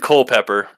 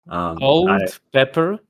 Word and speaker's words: Culpepper: Old pepper. Culpepper. Let me spell it out. Oh, coal. Like Culpepper. Okay. Yeah. I thought coal. yeah, coal. Oh, I thought. Like coal and then pepper, like two.